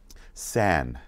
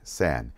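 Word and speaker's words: 三: or pretty simple right the next one is San San is three San E or San E or San okay then four is is a it's the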